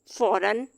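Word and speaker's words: foreign: एंड पे आ रहा है, तब हम इसको प्रोनाउंस जी को नहीं करते हैं। असाइन, फॉरन, साइन।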